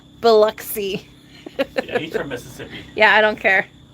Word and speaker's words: Biloxi: Aircraft Sparky says Biloxi is pronounced Biloxi.